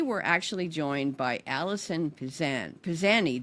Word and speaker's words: Pizanie: So today we're actually joined by Alison Pizanie. Did I say it right? You did, Pizanie, yes. Pizanie. Okay, so it sounds Italian. Is it Italian? It's actually French, Pizanie.